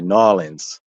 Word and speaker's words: New Orleans: or to to them how they pronounce it in New Orleans they say norleans right so so the